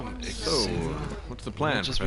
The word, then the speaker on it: Xu: systems using these No, it's backup just Zoo, parts.